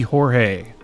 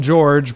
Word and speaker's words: Jorge: is going to be Jorge I know people call him George but it's spelled like hor so I'm going to say Jorge there we go we're going